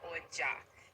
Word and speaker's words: Oja: I I really How do you pronounce the name of the flute? I don't want to say it wrong. Oja. Okay. Oja.